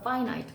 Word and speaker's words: finite: 이거는 파이나트 발음이 달라. fin이 아니라 파이나이에요. 파나 그것 자신의 유한한처 특성